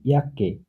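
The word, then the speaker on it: Jacke: সে কে একসাথে থাকলে কয়ের মতো উচ্চারণ হবে, যেমন ইয়াককে, জ্যাকেট।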